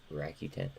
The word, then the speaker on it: Rakuten: I always pronounce that wrong. Rakuten.